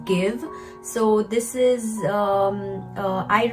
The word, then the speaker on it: GXVE: this brand gx wii that is pronounced as give so this is um